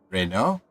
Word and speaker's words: Renault: Ilana is not French but Reno renoa Reno not renois is about right but Ilana that's not